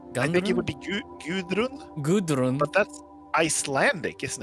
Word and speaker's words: Gudrun: It's pretty close, but I think the D is like a TH kind of. Guthrun?